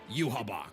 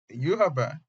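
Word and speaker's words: Yhwach: And while other shitty, is that how to pronounce his name? Yuab. I thought it was you. I don't I don't actually know how to pronounce his name now that I think about it. Hang on. Wait, I I have to go. Surprise, surprise to me. Uh, death battle is completely correct here.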